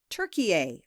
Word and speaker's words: Türkiye: the Thanksgiving bird and rebrand itself as Türkiye, which is spelled T-U with 2 dots on top, R-K-I-Y-E. This is how the country's name is said and written in the Turkish language.